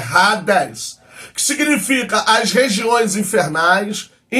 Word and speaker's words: Hades: inferno A primeira é AD no grego se pronuncia rades Então mas a gente fala no português H mas no Grego é Hades que significa as regiões Infernais inferno mundo inferior